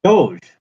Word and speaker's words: Doge: I've heard of these people call themselves Doge, which is the ancient leader of Venice, and just phonetically, it's a bit like dog, but nothing to do with dogs.